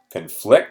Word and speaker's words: conflict: So if two ideas, beliefs, or stories conflict, and again, different stress, conflict, stress on the second syllable, it is not possible for them to exist together or for them both to be true.